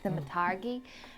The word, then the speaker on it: thaumaturgy: Yeah, thaumaturgy.